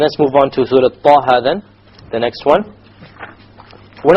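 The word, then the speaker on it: طه: Okay, both of them are 2 harakas long, so we pronounce it Taha, Taha. If we were to make it longer, it's a mistake. Ta or Taha, mistake. Each one has to be 2 harakas.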